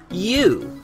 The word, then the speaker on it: ewe: It's spelled E W, but it's pronounced U.